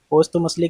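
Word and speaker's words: posthumously: पोस्तु मुसली की meaning बहुत ही important है। इसकी स्पेलिंग भी एक बार देख लेते हैं।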